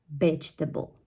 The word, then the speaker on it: vegetable: do you pronounce it vegetable okay the stress of the word it's at the very first syllable which is B vegetable okay okay the next